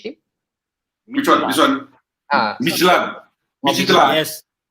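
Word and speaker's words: Midtjylland: And how to pronounce, Mayor? The last team, the Danish team. Which one? This one? Midland. Yes. Midland.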